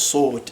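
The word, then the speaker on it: صوت: So I might not be, have the perfect pronunciation or perfect accent of the dialects down, but this would be pronounced as saut.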